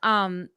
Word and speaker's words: Ellie: actually pronounced Ellie. Ellie. Right? Okay. Yes. Ellie. Just the way it looks. The way it looks. Yes. I Dingus, say that's Eli, me.